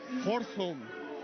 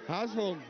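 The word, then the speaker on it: Hørsholm: He also plays football for, and let me try this, you can fix my pronunciation, Horsholm. Oh, that's not good. Hasholm. Hasholm. Okay, yeah, that's the one.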